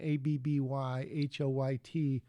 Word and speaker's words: Abby Hoyt: Also, the girl's name, ABBYHOYT, is pronounced Abby Hoyt.